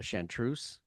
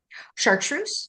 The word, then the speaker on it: chartreuse: I say it wrong, we'll we'll go a chantreuse. Chartreuse.